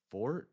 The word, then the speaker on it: forte: It's fort. Forte is for music spelled forte pronounced fort.